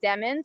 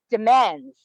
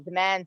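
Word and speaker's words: Demens: says that it's pronounced demands the emphasis really should be on the second syllable demands or demons as i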